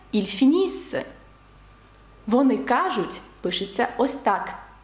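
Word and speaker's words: ils finissent: пишеться Ось так вимовляється ільфініс вони кажуть пишеться Ось так і читається як ільдіз нт наприкінці дієслів не читається також наприкінці слів у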